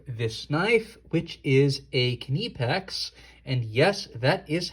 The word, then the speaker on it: Knipex: brief overview of this knife which is a knee PEX and yes that is how you pronounce that word I know we're probably used to saying nif X by now but it is kidney packs I actually checked on their website um 16